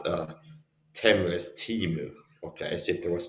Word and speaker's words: Temu: Okay, I pronounce Temu as Timu.